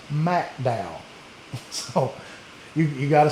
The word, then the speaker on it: McDowell: I was going to Mcdow Kentucky and um they immediately told me it's not McDow, Kentucky, it is Macdow.